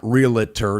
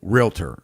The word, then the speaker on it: realtor: associations when you're a realtor right not realtor it's not a three-syllable word it's two-syllable realtor okay a lot of